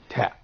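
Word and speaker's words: ت: Here in the voicing states, you can find that the airstream doesn't make any kind of vibration in the vocal flaps. So that means it's described as a voiceless sound.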